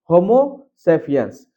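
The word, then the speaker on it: Homo sapiens: तो ये है आपका अंग्रेजी वर्ड का सही उच्चारण। होमोसेपियंस।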